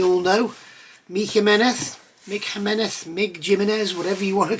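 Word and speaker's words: Jiménez: know michael meneth mick jimenez mig jiminez whatever you want to call him the correct pronunciation according to a spanish friend is me meneth so that is how you say mig's name so long story to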